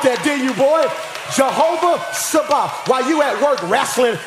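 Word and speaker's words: Tsaba: Jehovah Sabah.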